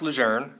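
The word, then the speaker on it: Lejeune: best answer I could give him was it's pronounced lour and in fact we'd argued over this for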